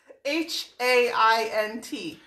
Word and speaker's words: Haint: H-A-I-N-T. Like paint, but replace the P with an H. Oh, ooh. Like paint, but Haint.